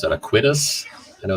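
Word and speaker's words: Aequitas: Aquitas. I know it's spelled. I think spelling it, I always think After Effects. So it's AE, and then it's the word quit, and then AS. Aquitas. Equitas.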